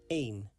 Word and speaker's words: één: 1 in Dutch is één. Één is pronounced like the word main without the M sound at the beginning. Één.